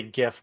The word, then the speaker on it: GIF: I have this this like I'm gonna say GIF, but I know some people are gonna be like, it's pronounced GIF, and I'm gonna say I don't care.